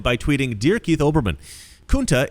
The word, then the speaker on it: Kunta: LeVar Burton himself, the actor who played Kunta Kinte, responded by tweeting, "Dear Keith Olbermann, Kunta is pronounced with the long U as in unity, not the short U as in cup.